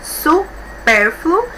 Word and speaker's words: supérfluo: Então, nós temos aqui uma palavra com 3 sílabas, supérfluo. E por último aqui nós temos um ditongo. A sílaba mais forte, a penúltima, supérfluo. Então, é acentuado.